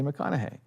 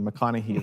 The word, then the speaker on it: McConaughey: So that's why I led with your modern day Texan Bruce Lee, Sensei McConaughey. And that helped me remember his name because I was so terrified I was gonna get it wrong. McConaughey.